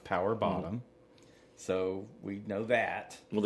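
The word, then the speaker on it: PWR BTTM: Uh There's one for the gays out there PWR and then BTTM and it's pronounced power bottom.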